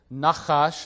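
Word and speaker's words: נחש: Nachash, that ch sound, is a letter in Hebrew called a chet, and sometimes written just as an H, or in this case perhaps a CH.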